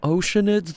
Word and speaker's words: Oceanid: we not calling them oceanids this whole time in that case let's go talk to him shall we oh oceanid sounds like how it's spelled um H aren't you